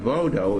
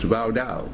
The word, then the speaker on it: Vaudou: The god Vaudou is what they now mispronounce voodoo. There's no such thing as voodoo. It's Vaudou.